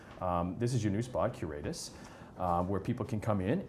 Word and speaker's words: Curatus: Curatus.